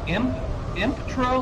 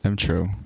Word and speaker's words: emTr0: You're making this really complicated. It's, you can read it phonetically. M-O. M-M-M... Tro. I'm having trouble. Oh, is it just Tro? Yeah. What does it look like? Oh, sup, Tro? No, it's M-Tro.